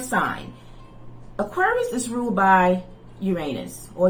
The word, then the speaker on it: Uranus: And going back to your fellow air sign, Aquarius is ruled by Uranus or Uranus. Some pronounce it Uranus, Uranus.